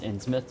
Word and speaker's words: Innsmouth: You know, I know it's pronounced Innsmouth, but you know, you were correct in my pronunciation of Innsmouthers.